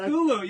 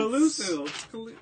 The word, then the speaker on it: Cthulhu: But Cthulhu. You said it wrong again. rats. Cthulhu.